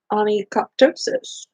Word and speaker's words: onychoptosis: So number 3 is going to be L, onychoptosis. All right. So again, that's the shedding of the nails in whole or part. Remember that the H is silent, and you need to